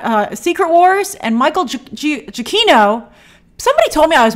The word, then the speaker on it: Giacchino: Secret Wars and Michael jokino somebody told me I was mispronouncing it wrong mispronouncing Michael jokino I looked up an interview with him and he said they said Michael jokino so I apologize if